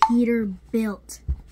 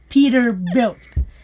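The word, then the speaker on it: Peterbilt: ภาษา อังกฤษ พอ ฟัง ิ how you say Peter Belt Peter Built Built Built Peter Built is right So How about the right here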